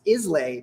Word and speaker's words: Islay: just do it no so it is isla it's isla yeah but basically a